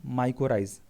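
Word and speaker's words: mycorrhiza: माइरोजा, ठीक है ना, माइकोराइज। तो इस तरह से इसको प्रोनाउंसिएशन आप लोग देख लेना, माइकोराइजा बोलते हैं इसको, ठीक है।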